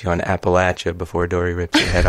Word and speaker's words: Appalachia: Well, I mean, I feel like the farther north you go, like in the States, people do say Appalachian.